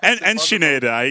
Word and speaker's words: Enschede: How again did you pronounce it earlier on? I'm very, very curious about this one. Enschede.